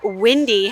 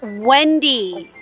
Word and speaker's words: Wendy: Windy, how can the wind tell you that they're gonna be 5 minutes late? Windy, glasses, red hair. That's Wendy. Wendy, okay? Be careful how you pronounce her name.